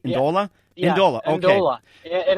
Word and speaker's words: Ndola: Did I pronounce it right? Ndola?